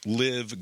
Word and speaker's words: LIV: merger of live golf it's livv golf it's supposed to be pronounced live golf and the PGA Tour